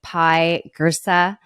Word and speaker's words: Pye Jirsa: I have the honor of sitting down with pie gersa am I pronouncing that right yes amazing so pie I